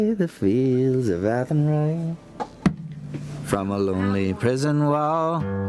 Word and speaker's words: Athenry: the fields of anthori ethan rye athenry i knew i was going to pronounce that wrong yeah okay is that the joke is at henry okay now i can